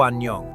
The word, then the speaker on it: 안녕: Maybe you said O 안녕. Here's the trick. When a syllable begins with A, it's silent. So the first syllable is just an. The second syllable is nyong. Put it together, 안녕.